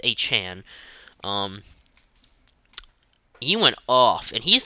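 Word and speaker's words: Achane: Devin Achan, which is how he has his name to pronounce. It's not A-Chain, it's Achan.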